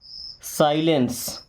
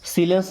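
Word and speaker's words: silence: Retain क्या पढ़ेंगे written क्योंकि डब्ल्यू तो हमारा साइलेंट है ना रिटेन का मतलब होता है लिखित या लिखा हुआ रिटेन ओके। साइलेंस इसको सीलेंस नहीं पढ़ना है।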